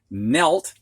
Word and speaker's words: knelt: Now we're going to look at words with the silent K coming before an N. And the first word is knee, and I think that one's pretty obvious. Knelt means resting on one or both knees.